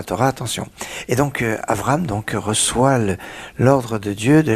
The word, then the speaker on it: Avram: Il ne s'appelle pas encore Abraham, il s'appelle encore Avram. Il faut faire attention à bien prononcer comme il faut pendant la plus grande partie de notre paracha.